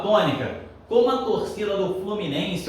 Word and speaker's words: Fluminense: é a senhora que se Estendeu é a sílaba tônica uma torcida do Fluminense o Fluminense é tanta cor vai gostar tanto de dança pela tem um passinho né olha só ó Fluminense de novo Fluminense olha se vamos Estendeu foi